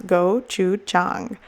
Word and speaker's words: gochujang: right here on the label for you to pronounce gochujang okay so I'm going to add some gochujang